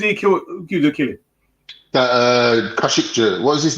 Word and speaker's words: Khashoggi: It's Khashoggi is his pronunciation.